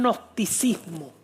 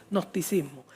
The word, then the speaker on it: gnosticismo: Se llama el nosticismo. Se escribe con g y después nosticismo.